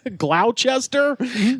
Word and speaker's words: Gloucester: and a lot of them have words that are not pronounced how they're spelled. Sure. Just straight up. Oh, you mean Worcester and Gloucester? Yeah. Gloucester.